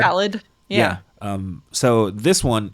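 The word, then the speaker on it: Ballade: then four had um I think it's spelled uh ballet but it's supposed to be like ballet ballad yeah um so this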